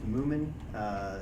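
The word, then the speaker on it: Mumin: I don't know if it's legislative, but it's maybe worth noting that I think it's Moomin, is how it's pronounced.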